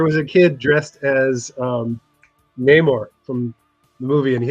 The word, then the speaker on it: Namor: didn't say it right. It's Namor.